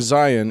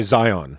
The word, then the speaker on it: Zion: We are pronouncing Zion in the way I think only Utons pronounce it. That's true. We're supposed to say Zion.